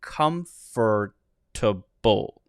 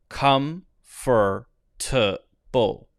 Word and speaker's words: comfortable: it will sound natural some people will go for the full syllable here and they'll say comfort to bull come for bull now notice i'm not